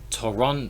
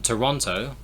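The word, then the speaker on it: Торонто: for example the city toronto toronto in in canada in russian i believe uh the the stress is on the second o so the other ones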